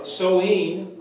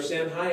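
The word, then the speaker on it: Samhain: to these type of celebrations okay uh it's pronounced uh soheen okay or Sam high in his way it looks but it's pronounced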